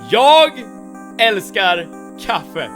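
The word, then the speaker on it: Jag älskar kaffe: And let me very educationally, pedagogically dude words pronounce this this thing in Swedish. Yog elkar cafe. One more time. Yogar cafe.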